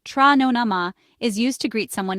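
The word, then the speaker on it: Tráthnóna maith: In Irish, trathnona maith, pronounced tra nona ma, is used to greet someone in the evening.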